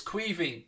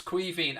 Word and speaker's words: Caoimhín: So, like, just think of it as, I suppose, Kweeveen or something like that.